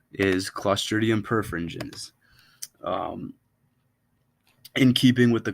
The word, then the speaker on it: Clostridium perfringens: per one second I gotta double check this pronunciation here clostridium perfringens is clostridium perfringens um in keeping with the clostridium theme perfingens